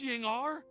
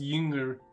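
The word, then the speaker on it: Ying'er: Miss Yingar? It's technically pronounced Yinger. But... Oh, so that's Miss Yingar? I've never met her before. Why does everybody keep saying Ying-ar? It's Yinger. Ying-ar.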